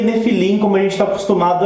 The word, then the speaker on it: Nefilim: bem pronunciada no final né de felinos se pronuncia nephilim como a gente está acostumado aí provar uma